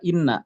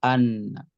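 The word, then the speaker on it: أنّ: ada Anna Anna Anna ini dibacanya dengan fathah tidak Inna ya tapi Anna Kenapa di sini tidak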